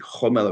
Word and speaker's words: Gomel: named for from Gomel, actually Homel or Gomel, depending where you grew up, as far as south as Simferopol and Kishinev.